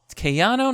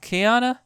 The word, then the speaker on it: Keanu: can you ki no Kayano not Keanu Keano kyon okay so it turns out it's kayano Keanu Reeves Keanu K